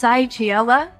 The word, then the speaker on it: Chylli: Okay, apparently it's pronounced Chylli.